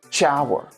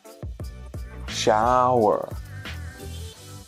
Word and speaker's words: shower: Spanish speakers tend to say these words. This sound here, SH. In English, it's sh, sh, sh. But Spanish speakers say choose, shower, chop. The correct way to say it is sh, sh, shoes, shower, shop, shoes, shower, shop. So remember, it's not a ch, ch. That's different. That's two different letters.